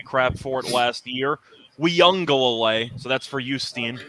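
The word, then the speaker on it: Uiagalelei: in the audience i did learn the actual pronunciation for clemson's quarterback he was giving me crap for it last year we young go away so that's for you steen i learned that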